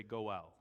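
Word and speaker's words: גּוֹאֵל: there is a word go well go ahead and look at your neighbor and say go well the real guttural g go well go ahead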